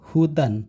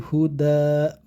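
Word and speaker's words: هدى: tidak boleh ditanduin ya cara bacanya bukan hutan bukan hutan ya Akan tetapi Huda dipanjangkan karena ada Ya Sukun di sini ini adalah namanya huruf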